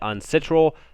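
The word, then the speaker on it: UNCITRAL: this is unc-i-t-a-r-a-l um we always called it on Central usually that's how you kind of pronounce it but and uh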